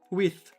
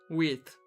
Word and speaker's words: width: Width. That's how you write it, right? I hope it is. Wait. Yeah, the final H. Width. Width.